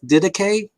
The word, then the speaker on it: Didache: There's a whole range of ways that you could pronounce it that work more or less well with various types of Greek pronunciation. I go with Didache when I'm speaking English.